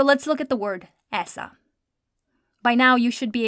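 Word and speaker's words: ایسا: So let's look at the word aisa.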